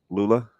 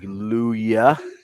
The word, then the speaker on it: Lulla: sorts of stuff right do they get the the two L's together with Lula yeah every once in a while someone will translate like luya and I'm like not Hispanic no Double L there wow I mean that's that's the Hispanic way of pronouncing like like like like yamos yeah yeah and I'm like yeah that's it's not the Hispanic pronunciation it's all good all